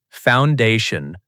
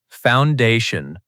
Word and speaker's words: foundation: Foundation. Pronunciation tip. Stress on the second part. Foundation.